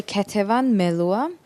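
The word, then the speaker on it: Ketevan Melua: you f online kavan Mala how do I pronounce that properly uh yeah you can say ketan meloa but um kvan is like the extended version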